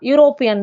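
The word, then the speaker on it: European: யூரோப்பியன் அப்படின்னு நான் சொல்லும்போது அந்த லெட்டர் ஆரம்பிக்கிறது ஈ தான் யூரோப்பியன் தான். ஆனா சொல்றப்போ எனக்கு ஒய் சவுண்டு வருது யூரோப்பியன்.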